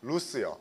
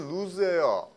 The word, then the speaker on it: loose: 비슷한 나라가 뭔가 하면요 loose 이것도 동의어예요 그렇죠 루스요 우리나라 사람들이 자꾸 뭐라고 발음하죠 선생님 오늘 수업비가 너무 루즈예요 루즈가 아니고 루즈는 los입니다지다 일타가 루즈고요 loos는 발음이